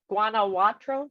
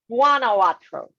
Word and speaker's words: Guanajuato: all right so let's go here am i pronouncing a white right guanajuatro is that it juana's guanajuato guanajuato guanajuato thank you just kidding okay yes